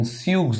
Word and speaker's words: Tsuge: If it involves only flexor digitorum profundus, this is called in Suge, the classification TSUGE, Suge's classification. T is silent, pronounced that as Suge, Suge's classification.